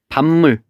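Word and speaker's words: 밥물: 이거랑 비슷한 예는 선생님이 지금 생각나는 거는 밤물 이라고 하면 얘도 발음을 해보면 밤물이라고 발음이 됩니다. 그래서 얘도 비읍이 미음으로 바뀌었습니다.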